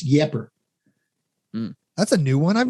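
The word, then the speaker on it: Ieper: people from minnesota wisconsin like eep is the french is my understanding anyway and we're out a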